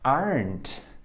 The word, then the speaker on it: aren't: aren't coming over tonight aren't aren't because our rent doesn't exist repeat again aren't aren't we don't pronounce this letter e here okay and if you're